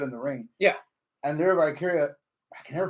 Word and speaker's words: Lyra Valkyria: And Lyra Valkyria, I can never pronounce her fucking name right. Lyra right. Valkyria or Lyra Valkyria. You had it right.